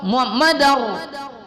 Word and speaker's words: Muhammadar: Asyhadu anna Muhammadar dal berbaris fathatain, tanwin di atas bertemu ra, diidghamkan dia. Tidak berdengung. Muhammadar ya. Jadi bukan Muhammadan ra.